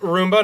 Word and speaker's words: Roomba: Roomba, not Rumba.